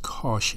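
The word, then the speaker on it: cosh: X that would be Kos that would be pronounced as Kos X so we have sin x we have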